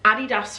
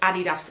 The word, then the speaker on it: Adidas: that I promote pronounce Adidas incorrectly I pronounce it the British way just to let